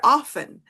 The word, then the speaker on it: often: way, like the word often. Like, okay, so like this word, um, British say often, Americans say Often, yes, often.